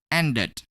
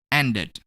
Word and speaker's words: ended: Next, when we add ed to the verb and, which has the ending sound d, we're gonna pronounce ed as it, ended, ended.